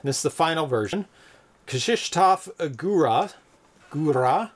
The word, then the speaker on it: Góra: Góra, slightly roll the R's.